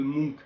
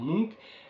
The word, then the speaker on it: Munch: explication du tableau de Munch. Alors, je précise, je le prononce Munch, c'est la prononciation scandinave, mais en France, on entend plus souvent Munch, qui est la prononciation française en fait de son nom.